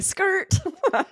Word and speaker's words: skrrt: first, I heard someone say skirt, Yeah, just spelled like skirt. SKRRT.